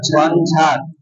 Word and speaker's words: ঝঞ্ঝা: যেমন মনে করো ঝঞ্ঝা সবাই বলতো কি উচ্চারণটা ঝঞ্ঝা ঝঞ্ঝা তারপরে ঝঞ্ঝা বুঝেছো ঝঞ্ঝা ঝং ঝাঁজ আজকে